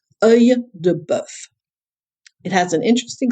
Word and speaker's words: œil de bœuf: Œil de bœuf. It has an interesting spelling and an interesting pronunciation. The e dans l'eau that we have means that the E is stuck to the O, and it produces a E sound.